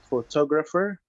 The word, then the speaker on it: photographer: The second word is photographer. Photographer. So the stress is on the second syllable.